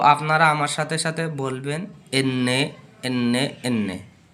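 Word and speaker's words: enne: সো এনকে এন্নে এন্নে এন্নে। তো আপনারা আমার সাথে সাথে বলবেন এন্নে এন্নে এন্নে।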